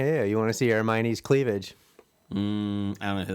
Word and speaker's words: Hermione: You really You really didn't know who that was when he said Hermione.